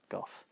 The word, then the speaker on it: Goth: And just a fucking fantastic performance from Mia Goth. I'm pretty sure it's just pronounced Goth.